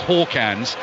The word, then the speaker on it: Hakans: So Hakans, although he spelt Hakans, is pronounced Hawkans, but the one I